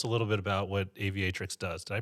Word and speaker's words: Aviatrix: you tell us a little bit about what aviatrix does did i pronounce that right yeah aviatrix yeah it's uh it means female pilot right